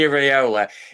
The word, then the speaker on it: Iraola: But I'm interested to see if Ando, I can't pronounce his name, Areola, yeah. Andoni Iraola.